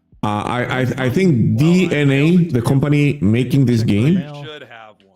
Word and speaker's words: DeNA: of it though uh I I I think DNA the company making this game I know I know it's spelled Dena but it's actually pronounced DNA we got exe GNA do here because Phil